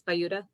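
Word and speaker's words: Buda: I always want to call it Buddha because it's spelled like Buddha, but it's Bayuda.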